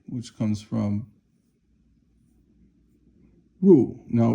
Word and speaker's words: 入: So now this next one is 内, which comes from 入. Now, 入 is like this. So remember, a person is like that, 人, but this is 入, fourth tone, that means to enter.